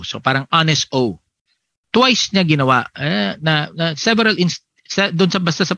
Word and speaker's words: Honesto: First one, yung nag-file sa, ang pangalan kasi nito ni Cabarugis ay Honesto or Honesto, silent H, okay.